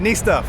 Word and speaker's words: NiStuff: I got your name right yeah you did N Stuff yeah tell TJ how to pronounce it I was practicing that all night